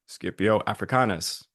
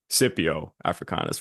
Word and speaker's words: Scipio Africanus: of a new figure skipio africanas or sippi africanas for those you can say either as I'm told by multiple other podcasts apparently you could pronounce it either which way I don't know if